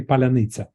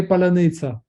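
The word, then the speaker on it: паляниця: and then Ukrainian soldier says, say Palanitsa. That's the way we check the pronunciation, Ukrainian or not Ukrainian.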